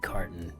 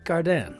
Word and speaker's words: Cardin: So I'm sure it's Nate Carton, but it's Cardin, right?